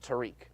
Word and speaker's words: Tarek: He spells it Tarek, Uh-huh. but he pronounces it Tariq.